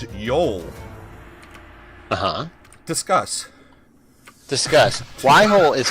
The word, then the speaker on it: Yhole: clearly spelled y y-h-o-l-e which would be pronounced as yol discuss discuss why whole